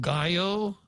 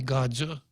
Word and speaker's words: Gallo: Comes from the Spanish word Gallo, which could be pronounced gallo, right? Or in some idiolects, it could be Godzu.